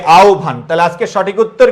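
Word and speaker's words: আহ্বান: হব আছে না? এর আগে অকার অথবা আকার আছে। অকার অথবা কিকার আছে? আকার। তহলে হটা কি হয়ে যাবে? ও হয়ে যাবে। আর বয়েজ কি থাকবে? ভ হবে। হ্যাঁ। আর হব এর পূর্বে যদি রসই অথবা দীর্ঘই থাকে তাহলে কি বলবা বলতো? হটা হবে কি? রস আর বস ভ হবে। বস কি হবে? ব হবে। তাহলে কি হবে? আওভান।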